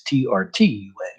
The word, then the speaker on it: Trenton: The actual spelling is Trenton, but the actual pronunciation is Trtun.